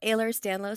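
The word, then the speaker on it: Ehlers-Danlos: do you say that so I have hypermobile aers danlow syndrome danow okay yeah it's a genetic Condition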